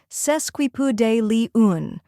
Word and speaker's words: sesquipedalian: like P in puzzle then comes day the stressed syllable which sounds like day in Monday finally Lee un sounds